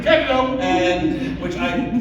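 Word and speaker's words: DeCandido: On some occasions like this, I have to say one very important thing, which is that it's pronounced DiCandido. DiCandido!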